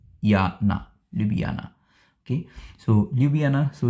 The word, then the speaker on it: Ljubljana: able to pronounce it correctly but the correct pronunciation is Loop B yeah libyana okay so lubiana so it's around one and a half or